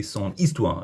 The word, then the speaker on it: histoire: Histoire is actually feminine as well, but if a word starts with a silent H or a vowel, use son instead of sa, even if it's feminine. It just sounds better. Son histoire.